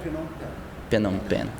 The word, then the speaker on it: Phnom Penh: Como é que pronuncia? Creio eu que seria algo como Phnom Penh.